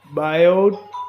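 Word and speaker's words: Biot: तो बायोट, ये टी यहाँ पर साइलेंट है इसलिए बायोट Savart's law, बायो Savart law के बारे में यहाँ पर डिस्कशन कर रहे हैं हम लोग।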